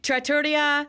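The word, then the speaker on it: Trattoria: you're on the right path something like that Tratoria TR the Italian restaurant thank you at Epcot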